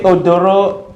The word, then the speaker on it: Odoro: Please, can you pronounce that again? Okay, Odoro, O-D-O-R-O, then Atasung, A-T-A-S-U-N-G.